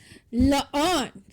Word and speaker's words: Laon: So anyway, I am Lathan Laon, however wish you pronounce it. It's not. Except our coffee knows it. Yes, it's Laon, Gaelic, but Lathan works.